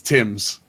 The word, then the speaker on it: Thames: We used to pronounce it Thames when he played for the Blue Jays. Actually, if you go with the last name is in game, it's Tim's.